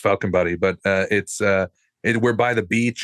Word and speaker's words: Falkenberg: Here where I live, the place I live in Sweden is called Falkenberg, and pronounced Falkenbody, but we're by the beach.